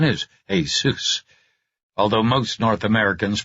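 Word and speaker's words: Jesús: doing so I hurt my parents the Spanish pronunciation is Asus although most North Americans pronounce it as if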